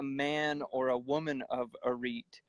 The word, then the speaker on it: Arete: And Arete is, they pronounce it differently, but we're in America and we'll just screw it up and try to skate by. But Arete, Arete, and Arete means excellent or moral excellence.